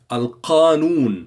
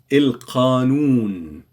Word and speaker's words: القانون: القانون, which is the law. In these words, we have to pronounce the qaf. So say it with me. القانون.